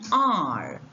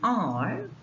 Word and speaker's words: heir: successor so we have we call it mute h words with mute h such words take an because they begin with a vowel sound you have examples here an r an owner an heir